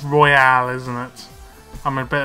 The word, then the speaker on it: Royale: this pack the Royal Royale even I I said it's Royal but it's Royale isn't it I'm a